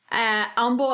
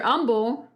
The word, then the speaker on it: Humble: an H but with the H is silent h Umble as in down the